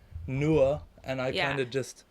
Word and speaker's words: Nouha: Well, like literally, like my name is supposed to be said like Nouha. Nouha. Yeah, like in Lebanese, like in Arabic, it's Nouha. Nouha. But like sometimes it's a bit hard for people to pronounce it that way, so I'm like Nouha. Like just pronounce the H basically.